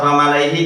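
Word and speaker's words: وَمَلَإِيْهِ: Lamnya lafat wa malaihi dibaca apa? Pendek. Kenapa dibaca pendek? Sifir mustadir. Mustadir. Apa sifir mustadir? Sukun bundar. Bundar.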